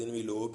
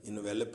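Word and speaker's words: envelope: تو بچوں اس کا تلفظ انویلوپ ہی ہے، انویلپ نہیں. انویلپ ای کے بغیر ہوگا اور اس کا معنی لپیٹنا ہوگا. اگر آپ نے لفافہ پڑھنا ہو تو انویلوپ ہوگا.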